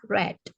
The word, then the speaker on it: read: penulisannya juga Sama ya tapi cara membacanya saja yang berbeda cara membacanya red seperti kamu menyebutkan warna merah red ya caranya membacanya sama